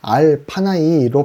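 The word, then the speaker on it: עַל־פָּנָי: 본문에 기록된 나 외는에 해당하는 히브리어는 알 파나이로 발음됩니다. 알은 무엇 앞에 라는 뜻이고 파나이는 파님에서 변형되었습니다.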